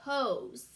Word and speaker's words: hose: How do we make it say hose? We add a super silent E to the end, right? Super silent E pokes the vowels to make them say their names.